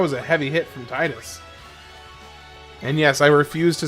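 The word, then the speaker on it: Tidus: Titus as in Tide in this game's water theme at Thank you. Thank you, Orphan. You are absolutely correct. It is so stupid that his official pronunciation is Tetus.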